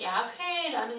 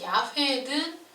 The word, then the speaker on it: 야훼: 하나님의 이름을 알려주셨을 때 이 여호와, 요즘 그 신학자들의 얘기로는 여호와보다는 야훼라는 것이 더 원래 하나님이 알려주신 그 이름의 발음에 가까운 것으로 보고 있다고 하더라고요. 그래서 여호와든 야훼든 똑같은 이제 하나님의 이름.